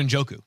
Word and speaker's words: Njoku: David Njoku.